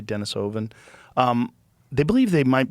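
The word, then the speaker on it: Denisovan: I I think the first even recognition that there was another type of human called Denisven. I think that's how they pronounce it. I always say Dennis Oven.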